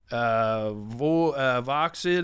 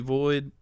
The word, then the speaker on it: Voxiiid: And you can check out my merch at Voxid. It looks like it's spelled, but it's actually Void.